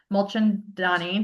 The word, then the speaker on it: Mulchandani: We have Jennifer Mulchandonni. Did I pronounce it right?